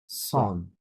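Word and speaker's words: cinq cents: Like এখানে যদি আমরা এইভাবে বলতে গেলে সাংস হবার কথা, তাই না?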